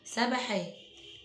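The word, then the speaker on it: سبّحا: وشده بالكسر وشده بالضمه عندنا كلمه سبحا لو جينا حطينا على البا دي شده هتنطق مرتين هتبقى سب ب يعني مره الشده دي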